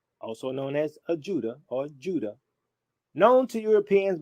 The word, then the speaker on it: Ouidah: this town a judah the people today in this town still pronounce their town in their native tongue as judah so i i have